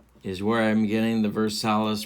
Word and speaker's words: Versalles: Ken Coleman is where I'm getting the Versalles pronunciation from, as well as Ned Martin. So if you have a problem with how I'm saying Versalles, well, you can't take it up with them,